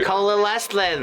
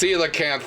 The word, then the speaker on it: coelacanth: Ooh, the coelacanth is very fancy. Yeah. Coalescent. UV. plant No, growing. Nick. Coalescent. Nick, no, I will Yes. correct you. Coalescent. It's coelacanth, Nicholas.